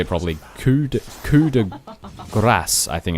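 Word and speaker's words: coup de grâce: And a nice coup de grace, I can't say it properly. Coup de grace, I think it's pronounced. Coup de grace. Grace. You need to sort of roll the...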